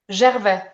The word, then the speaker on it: Gervais: And is the right pronunciation Gervais? Gervais.